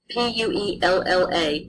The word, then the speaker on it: puella: Double consonants, when you have those, they're going to each consonant will be pronounced as two distinct sounds. For example, P-U-E-L-L-A, puella. It means girl, so you pronounce puella.